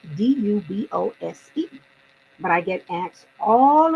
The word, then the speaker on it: Dubose: again another example my last name Dubose it is spelled d-u-b-o-s-e but I get asked all of the time it's a what's your full name Dubose oh is it good boys I I just said that it's do both